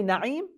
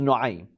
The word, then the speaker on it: Nuaym: Some say Naim, but probably the correct pronunciation is Nuaym.